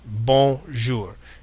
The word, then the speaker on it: bonjour: But here, using the phonetic alphabet, you can see how this is pronounced bonjour. You can get much closer to the target pronunciation if you understand these pieces. B, on, j, ou, r.